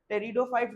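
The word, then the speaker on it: Pteridophytes: टेरिडोफाइट्स बोलेंगे। टेरिडोफाइट्स नहीं बोलेंगे उसको। पी को प्रोनाउंस नहीं करेंगे। जब भी दो क्सक्यूटिव कंसोनेंट साथ में रहते हैं, फर्स्ट वाले को हम ओमिट कर देते हैं बोलने के लिए। ठीक है?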